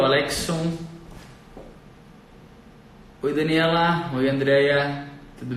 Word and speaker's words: Alexon: Alexson mesmo a pronúncia?